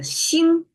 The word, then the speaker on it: 星: is the star and it's pronounced as Shing flat tone and I have the